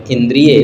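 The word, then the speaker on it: इन्द्रिय: होता है उनके द्वारा आगे देखें इंद्रिय अब य पर बड़ी ई की मात्रा का इस्तेमाल किया गया है जो कि अशुद्ध है इंद्रिय बोलते इंद्रिय शुद्ध शब्द है छोटी ई छोटी ई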